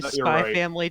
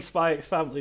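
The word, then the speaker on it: Spy × Family: Yeah, I've been saying Spy Family this entire time. Same here. It's like Hunter x Hunter. Yeah. What? Why don't they pronounce their X's?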